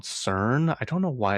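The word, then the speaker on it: SYRN: launching a brand called CERN, pronounced like Siren.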